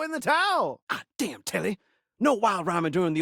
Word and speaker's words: Telly: I'm telly rhymes with jelly.